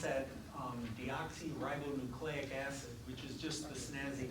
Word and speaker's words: deoxyribonucleic acid: So we'll go through these one at a time, and we pronounce that deoxyribonucleic acid, which is just the snazzy word that DNA stands for.